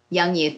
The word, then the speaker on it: Jung Youth: let's go okay so I said so you spell it Ju in G crews cool young youth everybody knows game game well thank you for